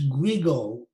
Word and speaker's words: Guigo: His name, by the way, is Guigo, G-U-R-G-O, or sometimes it's spelled Guido, G-U-I-D-O.